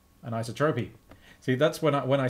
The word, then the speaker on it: isotropy: Metian and isotrophy, there's a pull request. No H, what? Thank you. An isotropy.